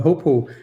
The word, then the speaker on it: hoopoe: Well, the next verse, it talks about the hoopoe. Who? How do you pronounce it? Hoopoe.